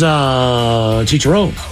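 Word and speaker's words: chicharrón: Well, pig skin is chicharron. Yes, I believe that's how you say it, right? Correct.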